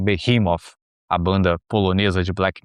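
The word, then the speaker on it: Behemoth: É quase um behemof ou sem a pronúncia abrasileirada, quase um behimov, a banda polonesa de black metal.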